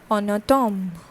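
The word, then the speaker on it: en automne: will use on autumn similarly en would be used and it becomes n and o gets connected and it forms on a tom on a tom okay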